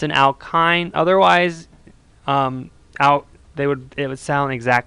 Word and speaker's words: alkyne: next up we have alkynes the Y kind of makes an I sound I'm gonna put an I in parenthesis there it's an alkyne otherwise out they would